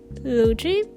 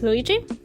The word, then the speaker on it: Looji: It was created by another artist who is called, I think I call her Luigi, but I think she pronounces her name as Luigi.